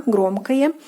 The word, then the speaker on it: громкое: Take notice that the o in the ending is pronounced more like a, громкое.